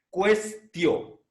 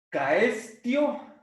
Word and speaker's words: quaestio: Y cuando la sílaba ti está precedida por S, entonces la sílaba se pronuncia como ti. Por lo tanto, la palabra es cuestio. Cuestio. ¿Sí? No se olviden de pronunciar la U. No es simplemente, no vamos a leer caestio, sino cuestio.